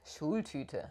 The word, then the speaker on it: Schultüte: So thing number one, the famous Schultüte. Did I pronounce that right? Schultüte? Schultüte.